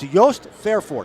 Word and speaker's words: Joost Vervoort: For Cumberland Valley, it'll be Jordan Wilson, Mike Palkovich, Tyler Maloney, Donovan Talbert, and Joost Vervoort. Now, we asked him how you pronounce his name, and he said it's Joost Vervoort.